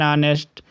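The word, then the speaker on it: honest: नेक्स्ट rule देखो, before consonant H, ऑनेस्ट मैन, जैसे एन ऑनेस्ट, एच क्या है, एच आप देखोगे तो कहोगे ये तो कॉन्सोनेंट है बट इसे एच ऐसे पढ़ते हैं, तो इसका अगर एच से देखो ऑनेस्ट पर्सन, ऑनेस्ट, ये हिंदी का स्वर है इसलिए ऑनेस्ट मैन हो गया, एन आर हो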